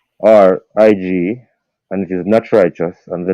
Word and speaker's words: Knatch Rychus: um, my immediate contacts are IG, and it is not righteous, and the name is spelled KNATCHRYCHUS.